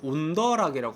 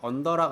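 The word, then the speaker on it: on the rocks: 시원하게 마시는 방식은 우리가 온더 락이라고 합니다 언더락 아니고 온더락 그다음 7번 위스키가 잔네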